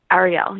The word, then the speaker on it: Arielle: Now, I'm saying that right, Arielle or Ariel? Arielle, you are saying it right.